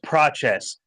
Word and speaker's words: Prates: Harpazo, it's Prates. Learn to fucking speak Portuguese.